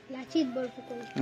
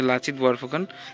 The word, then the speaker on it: লাচিত বরফুকন: এখানে দেখো একজন আছে, কার ছবি, লাচিত বরফুকন নাকি, একটা উচ্চারণটা ঠিক হয়তো বা ভুল করছে। কি নাম? লাচিত বরফুকন। আচ্ছা আচ্ছা, এনার নাম হচ্ছে লাচিত বরফুকন।